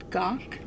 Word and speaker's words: Gach: Gary and I think his last name is pronounced gawk I could be wrong though so this big old